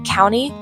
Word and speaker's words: county: Word county is not pronounced by the sounds itself, it's blended together and pronounced as one syllable.